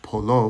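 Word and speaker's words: پلو: Then it says chelo pelo, which is wrong. It's chelo {slash} polo, which are two different things.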